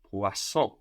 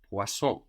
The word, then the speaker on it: poisson: Fish in French is poisson, poisson. Poisson. Like the star sign Pisces, again we have the F to P shift now. Fish, poisson, spelled Poisson, poisson.